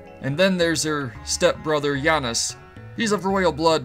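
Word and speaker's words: Janus: boy's name is Yanis I always used to pronounce it Janice but then I saw goldeneye and they had it pronounces Yanis in that so that's gonna why do that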